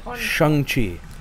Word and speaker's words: Shang-Chi: properly say his name it's shangchi it's not shane i think it was